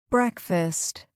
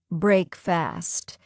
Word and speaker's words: breakfast: Breakfast. Wrong. Break fast. Correct. Breakfast. We don't say break fast, just breakfast.